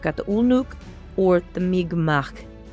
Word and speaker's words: Mi'kmaq: And uh sure enough, looking into the history, I find the first peoples of this nation, the Migmak is how you pronounce it.